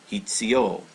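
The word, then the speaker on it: 必: Hitsuyo. So this is actually pronounced hitsu. Hitsu.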